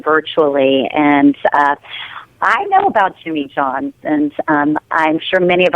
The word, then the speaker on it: Jimmy John's: Yeah, Jimmy John's, just like you'd assume.